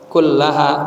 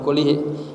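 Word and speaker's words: كلها: Ya kullaha bacanya bukan kullihi.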